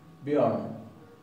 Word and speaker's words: Björn: Bien, los noruegos dirían Björn, Björn, pero los islandeses modernos dicen Björn, Björn. Y la RN ya no se pronuncia de la misma manera.